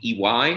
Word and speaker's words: IWAI: So as we line up the whiskeys, now that we've poured our Akashi, we're going to go with the EY 45, the IWAI, pronounced EY.